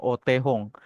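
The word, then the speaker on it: お手本: Yang sebelah kiri yang kanji huruf kanji gede itu bacanya Otehong.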